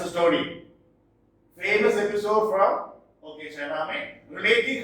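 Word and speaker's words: Shahnameh: So it is written this way, it is pronounced Chaname, which tells the mythical and historical condition or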